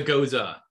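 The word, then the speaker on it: Gose: It's a goza. Goza. Yeah. We spent several episodes just trying to figure out how to pronounce that word.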